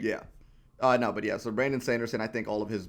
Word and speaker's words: Brandon Sanderson: And also, I said his name wrong. It's Brandon Sanderson.